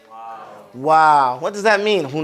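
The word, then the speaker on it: واو: we are on what Wow and it's pronounced like the English word Wow it's the jab and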